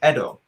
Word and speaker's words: Edo: let's finish that first we've been mispronouncing tepen edo the entire time when people prefer to that period of time it is the edo period the edo period see the edo period in japan so it is actually